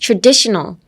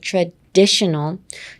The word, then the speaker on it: traditional: how you pronounce ch-est。Next traditional, traditional, traditional. Emphasis on the D-I, traditional, traditional.